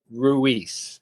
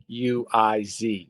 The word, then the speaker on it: Ruiz: 1980 uh was an interesting one because a lady by the name of Rosie Ruiz and it's uh her name is spelled well it's Rosie and then it's Rui Z.